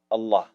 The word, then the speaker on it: Allah: pronounced on the tongue a double l exhale with love allah it is the phrase